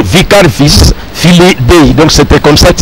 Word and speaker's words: Vicarius Filii Dei: Mais si on va bien prononcer ça en latin, Vicarius, il faut dire Vicarius Filii Dei.